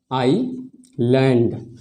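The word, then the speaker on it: island: देख रहे हैं की ये जो एस वर्ड है ये आई और एल के बीच में ए रहा है तो हम लोग इसमें एस का उच्चारण नहीं करेंगे तो इसका उच्चारण हो जाएगा आई लैंड ठीक है हेलो लेडीज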